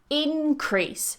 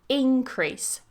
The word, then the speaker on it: increase: then our next word has two different ways to pronounce it depending on whether it's a noun or a verb so we have increase stress on the first syllable increase increase this is the noun however if we turn this into a verb the stress goes on the second syllable increase increase so increase